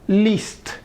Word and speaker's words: least: List. Suena como lista sin la al final.